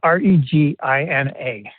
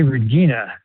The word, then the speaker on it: Regina: city, which is Regina, re G I N A. And of course it rhymes with a part of the female anatomy which some people make fun of.